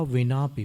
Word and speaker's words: विना: आज तीसरा काव्य बुद्ध्या विनापि। पहले उच्चारण देख रहे हैं, बुद्ध्या विनापि। हिंदी में बिना बोलते हैं, संस्कृत में विना होता है व।